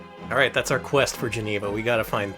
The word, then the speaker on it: Geneva: Thank you for pronouncing it like the pinball game. If you played the Frankenstein pinball game from, I think it was Sega, one of the call-outs is just the creature saying, Geneva.